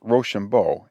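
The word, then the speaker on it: Rochambeau: our watchword was roshambo the commander of the French forces's name for being pronounced roshambo it sounded when pronounced quick like Rush on boys we had not here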